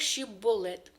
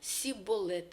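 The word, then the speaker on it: שיבולת: кожний філісцімлянин потік води єврейською звучить як щипболет але філістімляни не могли вимовити це слово Вони Всі казали сіболет і тому євреї їх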